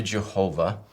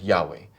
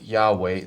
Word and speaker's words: Jehovah: So, with regard to Jehovah, uh we do believe that it's an incorrect way of pronouncing it. Uh but what that is is it is a it's a misreading of the vowels that appear on the letters YHW on the word Yahweh. It's a simply a misreading of it.